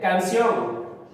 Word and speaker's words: canción: En el siguiente, canción. Canción. ¿Será aguda o no será aguda? Canción. Ah, profesor, si es aguda, termina o tiene la mayor fuerza voz en la última sílaba.